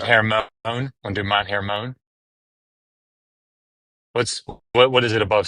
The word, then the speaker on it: Hermon: I I don't Mount Hermone. H E R M O N spelled like Herman.